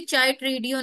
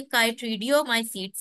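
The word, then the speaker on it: Chytridiomycetes: किसी ने भी चाइट्रीडियो नहीं पढ़ना, ये काइट्रीडियोमाइसीड्स है।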